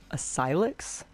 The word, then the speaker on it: Asylix: video all right I figured it out it's pronounced ayx so uh I apologize